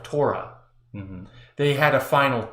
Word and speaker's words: Torah: is actually taurat and taurat is the Aramaic pronunciation of Torah mm-hmm they had a